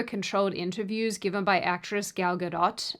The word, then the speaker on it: Gal Gadot: Outside of a handful of super controlled interviews given by actress Gal Gadot, and I know I'm saying that right because I said it wrong last time and you guys roasted me, and so I'm trying really hard.